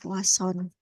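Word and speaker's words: Poisson: ya jadi memang eh tulisannya adalah Poison tapi membacanya yang umum adalah poason ciri-cirinya di sini memuat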